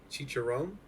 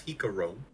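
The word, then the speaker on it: Jicarón: Chicharron? No. Maybe. No, that's Jicarone.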